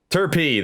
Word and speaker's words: Turpey: Turpey, that's how that's pronounced. I have been corrected.